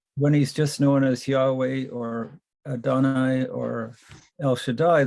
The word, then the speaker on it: Yahweh: saying the tetragrammaton yodej yahweh it's the way it's usually kind of pronounced i think that's a pretty accurate representation of the way they would have originally spoken it and i think god